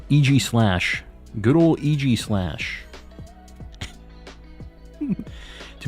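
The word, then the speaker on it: Aegislash: love to see it uh AIS slash is pronounced EG slash EG slash good old EG slash to be fair using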